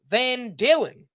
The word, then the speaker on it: Van Dalen: This one is from Van Dalen, who rhymes with, of course, classic rock group Van Halen.